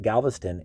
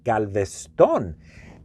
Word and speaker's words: Galveston: bit of trivia for you is it's not pronounced galveston it's actually galveston galveston is an actual spanish name the city